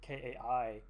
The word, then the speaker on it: Kaj: a non-Danish person, where Kai's name is spelled Kaj, but we'll see Lukas for the most part always pronounce it Kai, and there's even some